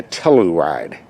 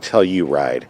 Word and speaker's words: Telluride: Looks like the all-new 2020 Kia Telluride. Or is it tell you ride? I've heard it pronounced two different ways.